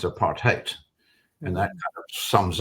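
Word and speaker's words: apartheid: heard of aparte uh it's pronounced in Africans a part haate and that kind of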